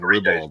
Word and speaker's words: ribald: He's looking up ribald right now. How do you spell that? Perry in the house, man. R-I-B-A-L-D. It's like bald with R-I at the beginning.